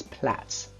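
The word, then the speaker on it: plaits: Pupils might be tempted to say plates, but the correct pronunciation of this word is Platz.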